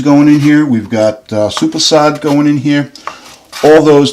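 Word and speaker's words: soppressata: We only need 4 ounces so it's pronounced sopressata.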